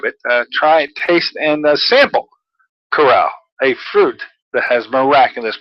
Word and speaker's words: Carao: miraculous fruit called, I found out how to pronounce it, Carao.